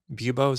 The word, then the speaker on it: buboes: The guards would definitely shout that you need to, show lack of buboes.